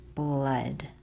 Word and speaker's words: blood: See, but it's UD. It's not OOD like blood is.